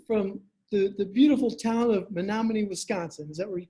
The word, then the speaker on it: Menominee: So first of all, you're coming to us from the beautiful town of Menominee, Wisconsin.